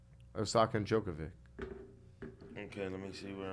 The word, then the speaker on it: Djokovic: to aussie open so djokovic the joker yeah yeah the original joker the d the d is silent obviously the name and you